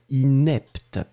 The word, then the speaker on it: inepte: Le premier, inapte, d'accord, et le deuxième, inepte. Inapte, inepte. Et voilà, donc là c'était bien, il n'y avait pas de, problème.